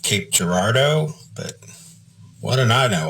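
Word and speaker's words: Cape Girardeau: are we going through this place it's called Kappy gerdo and dad looked at me and said what and I said Kappy gerdo it's right here on the map yeah it's it's pronounced Cape Gerardo but what don't I know I was like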